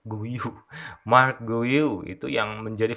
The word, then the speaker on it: Guiu: pemain bernama Mark guiu kalau gak salah cara bacanya begitu ya guiu Mark guu itu yang